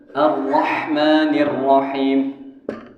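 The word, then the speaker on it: الرحمن الرحيم: Hamzah ini harus belajar arrahmanirrahim misalkan arrahmanirrahim Hnya kadang-kadang ngorok berubah jadi ko arrahmanirrahim nah ini dia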